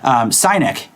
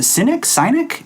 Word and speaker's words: Synek: And actually, he suggested that we take a look at this product called Synek. I think that's how you pronounce it. Synek? S-Y-N-E-K. I want to say Synek because Cynic just sounds bad.